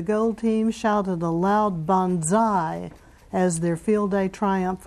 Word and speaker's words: banzai: The members of the gold team shouted a loud banzai as their field day triumph over the blue team was announced.